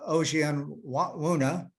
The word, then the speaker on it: Ojianwuna: Josh Ojianwuna, yeah, that's how you say it. We call him Old John Werner. Yeah, that's probably a better way to pronounce it.